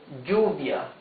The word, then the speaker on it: lluvia: Double L, the sound changes. No matter if it's at the beginning of a word or in the middle. Double L has a sound G, right? Like lluvia, G, U, V, I, A.